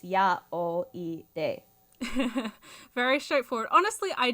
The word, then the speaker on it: yaoi: basically like that so eight can be pronounced yah in Japanese zero can be pronounced o and one can be pronounced e so it's yeah all e day very straightforward honestly